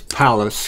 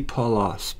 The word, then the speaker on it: Pallas: going to stick with I don't think it's Palace because that would be you know like a big giant house I think it would be paulos p-a-l-o-a-s both are probably